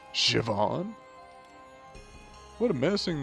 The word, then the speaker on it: Siobhan: C.O. Ban? Siobhan. No, wait. It's pronounced Siobhan.